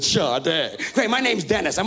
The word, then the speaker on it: Sade: like that singer shade well my name is spelled Sade but I pronounce it shade great my name's Dennis